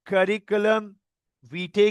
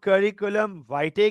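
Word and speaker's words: curriculum vitae: तो इसको कुछ लोग करिकुलम वीटे कहते हैं, कुछ इसको करिकुलम वाइटे कहते हैं। इट मैंने मैंने जब इस पे सर्च किया तो इट कैन be pronounce either, British में अलग है, अमेरिकन में अलग है।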